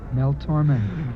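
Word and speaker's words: Tormé: Accent aigu over the E. Yeah, and what does that say? Mel Torme.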